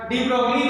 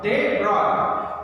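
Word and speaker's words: de Broglie: कहने के लिए मैं डी ब्रोगली कह रहा हूं, लेकिन आप डी ब्रॉय ही कहिएगा. डी ब्रॉय, it's pronunciation is ब्रॉय, डी ब्रॉय. This pronunciation, इसकी प्रोनाउंसिएशन जो करनी है हमको कैसे करनी है, बी आर ओ आई, दे ब्रॉय. ठीक है, इट्स नॉट डी ब्रोगली, it's actually दे ब्रॉय.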